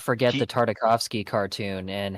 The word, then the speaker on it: Tartakovsky: I do feel like, I'm not going to lie to you, I do think that the Tartakovsky, I can never pronounce his name. You said it fine. Gendy Tartakovsky.